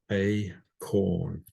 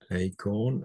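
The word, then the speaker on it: εἰκών: Hair is a definite article, and it's pronounced acorn, acorn, and it means a likeness or an image And you can see that we get icon from it, acorn, an image.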